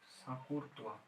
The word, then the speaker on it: Chancourtois: তো যদি আমরা টেলুরিক স্ক্রু লয়ের কথা ধরি, তাহলে the scientist name Sakurtoa, or the English pronunciation will be Chancourtois.